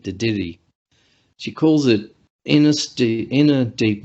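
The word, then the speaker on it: dadirri: It looks like it's pronounced Didiri. That's how most non-Indigenous people say it. But actually it's pronounced Didiri, as if the double R at the end is actually double D, Didiri.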